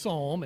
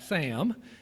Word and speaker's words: psalm: have been called a Sam Sing, which apparently now is A, pronounced Psalm and not Sam, and B, called a hymn sing instead.